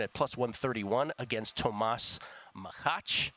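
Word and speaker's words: Macháč: 118 Alexi poin at plus 131 against Tomas makach it's actually pronounced makach uh and then Alejandro davidovich faka minus 125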